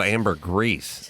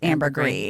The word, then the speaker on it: ambergris: comes from yeah amber i thought it's called amber grease well it has an s but i think it's pronounced ambergris yeah that was like french or something yeah so like pinot